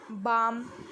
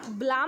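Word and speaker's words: balm: Silent word जैसे guard, बाम, पाम. ठीक है, हम ब्लाम नहीं बोलते, बाम बोलते हैं.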